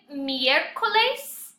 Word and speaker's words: miércoles: Miércoles. A lot of you are saying maybe miércoles, but you want to make sure you pronounce that E.